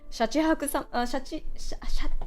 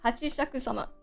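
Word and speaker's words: 八尺様: Yeah, Hachishaku-sama. It's Hachi for 8. And then shaku is like a measurement. But for some reason I keep mixing shaku and saying shaku first. But anyways, yeah, Hachi Shaku sama is the popo lady, the 8-foot foot.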